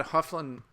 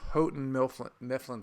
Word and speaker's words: Houghton Mifflin: a little bit, was I had Hufflin, or as my wife corrected me, Houghton Mifflin stock. I'm sure that's the correct pronunciation.